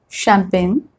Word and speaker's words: champagne: When G comes before N, many times we don't pronounce that G.